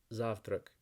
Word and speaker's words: завтрак: Zurich Zurich so the word for breakfast is pronounced zaft rec and something you might be interested in knowing